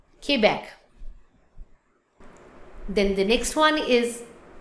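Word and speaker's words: Québec: So Quebec, but in French we pronounce Quebec. Quebec. Quebec. Let's not say Quebec. We pronounce Quebec.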